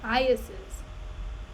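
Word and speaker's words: eyases: E-Y-A-S-E-S. Pronunciation. Let's hear it. I think it's Iases. Iases. Yes! Man, I'm so smart. It's Iases.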